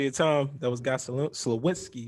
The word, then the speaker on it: Sliwinski: That was Guy Sliwinski. I want to make sure I'm pronouncing that correctly. I don't want to do you wrong. You got it perfect. Yeah. Sliwinski. Thank you.